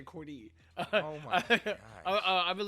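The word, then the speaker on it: Cordae: So it's Corday. It's so Corday. You can't say Corday. See, I was about to say Corday.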